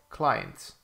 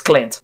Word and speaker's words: Clint: Client. Okay. I think you got the name wrong. It's Clint. Clint. Not client.